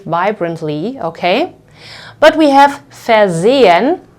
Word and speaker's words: versehen: But we have versehen, versehen, and you can see that in this case the second syllable starts with an S, so this S over here will be pronounced like Z.